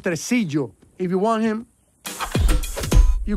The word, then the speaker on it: Tresillo: not so fast, Tracy. We're taking him. It's pronounced Tresillo.